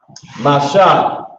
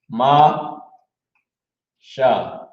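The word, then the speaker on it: משה: That's how you pronounce it. Ma Sha.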